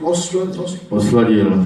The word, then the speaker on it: Osladil: How do you pronounce the last name? Osladil.